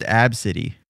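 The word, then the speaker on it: Abcde: Yeah, it's pronounced Absidy.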